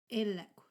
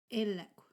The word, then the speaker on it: Ey-lekw: Sometimes it can even change the meaning of what you're saying if you're using a K or KW at the end. Ey-lekw. Ey-lekw.